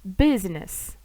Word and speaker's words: business: тому Desk secretary далі дуже цікаво Це виключення у нас літера ю читається як А або ю але в цих словах це виключення тому їх треба запам'ятати Business businessman отаке цікаве виключення